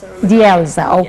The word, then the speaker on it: Delza: Can you pronounce your name so that we... Delza, okay.